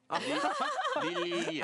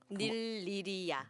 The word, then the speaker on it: 닐리리아: 닐리리아 발음 어렵죠? 릴리야. 오! It's better than me. 릴리야. Lilia. I got it wrong, right? Yeah. Yeah, it's a bit difficult to properly pronounce. Okay. Nililia, is it right?